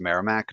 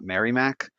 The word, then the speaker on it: Merrimack: Mass holes out there we all know it's pronounced Merrimack not Mary Mac so we won't give these guys too much